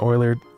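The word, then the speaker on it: Euler: Eertton oiler. Oiler. That's how you say it.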